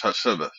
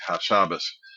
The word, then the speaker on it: Hassabis: recent Nobel laureate Demis Hassabis. Uh I'm I'm mispronouncing that. I think Hassabis.